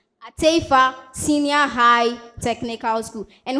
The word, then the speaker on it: Attafuah: My school name is pronounced ata Senior High Technical School. Atea Senior High Technical School.